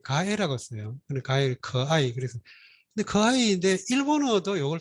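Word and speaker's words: 可爱: 가해 커아이 그래서 근데 커아이인데 일본어도 이걸 똑같이 써가지고 발음은 좀 다르죠.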